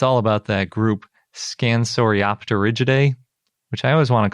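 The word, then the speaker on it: Scansoriopterygidae: always want to call scansorioter but apparently it's op because the p is silent and pterosaur but then you pronounce it when it's in the middle of a word i don't know latin's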